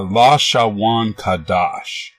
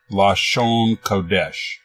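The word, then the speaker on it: לשון קודש: and nothing nothing outside they call this alphabet the la sha Wan Kadosh which is their pronunciation of Hebrew phrase lost shown kodesh meaning holy tongue or holy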